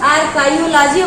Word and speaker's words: archaeology: काइयो मैं इसलिए कह रही हूँ क्योंकि CHAEO होता है और स्पेलिंग भी आया हुआ है।